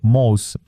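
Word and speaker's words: MOSE: plus coûteux d'Europe : Mos. Ce nom est un acronyme italien, mais sa prononciation évoque Moïse, symbolisant l'objectif du projet : séparer les eaux, comme dans le récit biblique.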